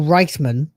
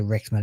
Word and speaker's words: Reichman: Daniel Reichman, which is, by the way, how you're supposed to pronounce that, but you can say Rickman if you want.